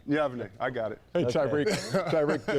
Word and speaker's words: Yavne: No, how do you pronounce where you're from again? Yavne. Yavne.